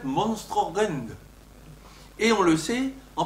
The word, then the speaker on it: monstrum horrendum: Le fameux monstrum horrendum qu'on cite parfois se prononce en fait monstrorend.